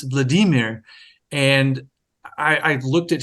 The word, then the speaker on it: Vladimir: with a lot of what Americans say you know Vladimir and I said you know think so and then I had no idea and he said well you know actually Landon it's Vladimir and I I looked